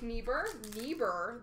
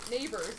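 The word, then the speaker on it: Neighbours: for St Louis of Jake nieber that's just not right neighbors is how you say that We're Young Guns of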